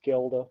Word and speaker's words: Gelda: Gelda, not Glenda. Oh my gosh, my mind's gone today. I just realized. There's been a few different pronunciations, but my understanding was it's Gelda, but With her, we actually